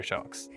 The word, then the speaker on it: Sjokz: I'm so happy to have you here, Sjokz. Oh, thank you so much, and really good pronunciation on my name, by the way.